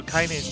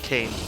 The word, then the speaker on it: Kaine: So Kaine's name is pronounced the German way. Kaine. Nobody. Not Kane, but I guess it's probably also a bit of a play on.